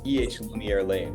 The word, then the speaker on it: EH Lumiere Lane: And just you know it's eh Lumiere Lane, right? That's that's how it's pronounced.